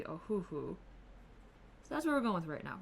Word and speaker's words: Ohuhu: over the board so the most common though seems to be a hoo-hoo so that's where we're